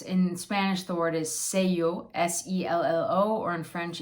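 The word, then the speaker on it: sello: stamp and that's in spanish the word is say yo s-e-l-l-o or in french it's tampum so those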